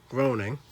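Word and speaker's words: Groening: same people who made the simpsons including matt groaning i believe that's how you say his name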